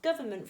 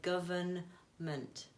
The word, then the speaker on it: government: so when we pronounce government for example we don't pronounce the n we don't tend to say government although it is there